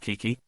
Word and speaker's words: Quiki: eye of her mother, Quiki, pronounced Kiki, a name that after considerable argumentation, both her Chinese father and Mexican mother agreed they could abide.